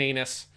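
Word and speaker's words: Einus: it's spelled e-i-n-u-s but it is 100 just pronounced captain anus she is the captain of the ship in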